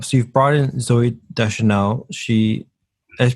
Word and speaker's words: Deschanel: really curious um so you've brought in zoe deschanel she has pronounced her last name right i could never i never remember if i pronounced her name right you should know de chanel thank you um she's coming in as a